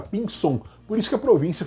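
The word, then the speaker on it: Pinzón: o nome do Sono se escreve com z visão mas é pronúncia do Zelo espanhol tá mais parece lembra pinson por isso que a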